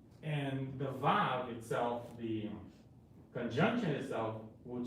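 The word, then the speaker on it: ו: So anyway, the Vav is pronounced as a U, which actually is not U, but like U, like the word you too, like you too, like so. It could be pronounced as U, or it could be pronounced as an O, and also a V, depending of where it is located. So it could actually be a vowel, or it could be a consonant.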